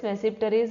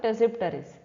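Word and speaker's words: Tmesipteris: and tpis or mesis you can either pronounce m silent or t that is mipar or taries next is a lopsa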